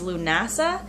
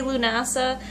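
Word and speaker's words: Lughnasadh: Alrighty, so we are going over llamas, which is L-A-M-M-A-S, also known as Lunasa or Lugnasad.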